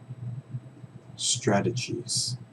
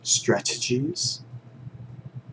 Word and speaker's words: strategies: was the other way I pronounced it was strategies because this T remember English speakers we can be pretty lazy with our T's especially the ones in the middle of them for the